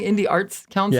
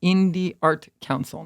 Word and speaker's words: Indie Art Council: So he kept saying Indie Arts Council. Yeah, I mispronounced it.